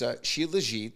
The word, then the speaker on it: Shilajit: So it's Shilajit.